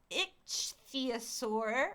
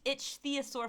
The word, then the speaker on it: ichthyosaur: Okay, so in Patagonia, an intact pregnant ichthyosaur, it's spelled ICHTHYOSAUR, What which is- is like ichthyosaur.